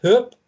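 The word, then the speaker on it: Höfn: on the map and it's spelt h o f n why that is then pronounced hoop i have no idea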